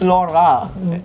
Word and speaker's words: लौड़ा: That is not Loda, that is Lora. अगर आज Zed बजे laugh होता for तो me, Lora good होता. boy. This is Skoda लौड़ा. Skoda Lora. Skoda Lora.